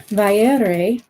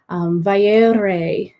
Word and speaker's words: Vairë: So Feanor or Manwe, Vaire, Matare, Yastare. There's a pattern there that Tolkien created. So you can practice whenever you see the umlaut, then you know how to pronounce the ending of those words.